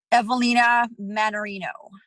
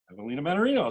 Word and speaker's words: Evelina Mannarino: So now, the correct pronunciation of your full name, just so I've got it right. Evelina Mannarino. Evelina Mannarino, that's what I had.